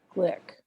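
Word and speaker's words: Glück: to follow that that I found that said it rhymes with click so I'm going to call her glitch it's slick that it rhymes with click and now I'm talking about Louise click who was born in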